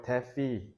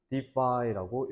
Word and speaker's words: defy: 파이는 거역하다 거스르다라는 뜻이야 그래서 이걸 대피 대파이가 아니라 defy라고 읽어야 됩니다 전통적인 관습적인 지혜를 거역하다라고